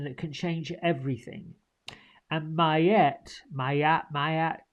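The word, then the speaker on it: Maat: what she was um it's pronounced mayet you can say may may mayet she's an ancient Egyptian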